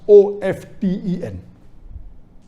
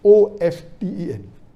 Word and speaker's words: often: Some will say often, some will say often. Previously it was often, then it became often. Now new people are saying no, often is correct. T is not silent, it should be pronounced. Some say T is silent, and then there's a big debate for that. But we realize that both are correct in their own ways.